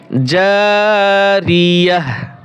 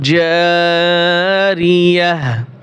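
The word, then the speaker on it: جارية: গোলতা ওয়াকফের সময় হা হয়, গোলতা ওয়াকফের সময় হা উচ্চারণ হয়।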